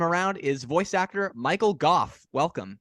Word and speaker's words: Gough: is voice actor Michael Goff welcome did I say your name right by the way I was just going to compliment you on saying it correctly because we didn't discuss it